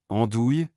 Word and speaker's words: andouille: En français, les mots se terminant par ouille se prononcent oui. Nouilles, j'ai cuisiné des nouilles pour le dîner. Andouille, il se comporte comme une vraie andouille.